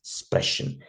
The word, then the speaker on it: Sprechen: This one, Sprachen and Sprechen. Sprachen, khan wala sound, that is particularly language. Sprechen wala sound, that is to speak.